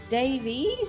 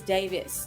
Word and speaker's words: Davies: So, I go by Davies, but if you're actually back in Wales, Davies, even with the E, is Davis. So, I go by either. Oh, that's that's fascinating. Well, okay. If you go by Davies, I'll introduce you as Davies.